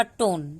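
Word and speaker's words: tone: न पढ़ते हैं फिर यहां पे हमारा ई साइलेंट है क्योंकि अभी मैंने जो रूल बताया उस रूल के हिसाब से इसका उच्चारण होगा टोन ठीक है एस एच एस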